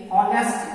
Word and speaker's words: honest: HONEST, ऑनेस्ट, यहाँ H silent है।